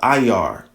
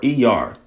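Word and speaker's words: Iyar: So that means that um the month of uh IR, right? Or Eer, it's spelled I Y A R I R, right?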